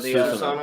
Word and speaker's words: Susanoo: How do you say that properly? Susanoo of Susanoo. the Japanese storm god. It's Susanoo.